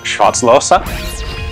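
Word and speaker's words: Schwarzlose: cool prototype early automatic pistol this is a short slows or properly pronounced shotzlosa hi guys thanks for tuning in to another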